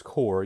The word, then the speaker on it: corps: CORPS looks like corpse without the E, but it's pronounced core.